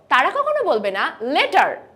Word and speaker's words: letter: different of strongly generally whenever they see Double T they pronounce it as D so letter letter l e t